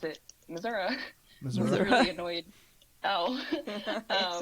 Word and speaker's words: Missouri: Which plot of the wide open Missouri.